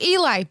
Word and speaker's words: Eli: So when I was saying Eli, people were like, it's Ellie. And I was No, like, it was fuck Eli. you. It was okay, Eli. so it's Eli, bitches.